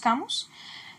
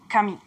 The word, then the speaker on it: Camus: here we call him camus, however the specialized public affirms that the correct pronunciation is cami, so we wanted to